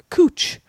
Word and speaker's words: Couch: I was in Portland, and they have a street called Cooch, but it's spelled couch. Yeah.